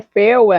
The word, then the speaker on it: Feyre: Eh, eu sei que é Fer, enfim, mas eu vou chamar de Ferry como uma boa brasileira leitura que sou. É Ferry, tá bom? Então assim, eu sei que a pronúncia não está certa, mas vai ser assim.